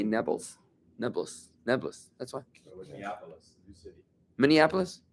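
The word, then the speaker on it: Nablus: city Naples you know Arabs can't pronounce the letter P so they say nebbles neis neis that's whyis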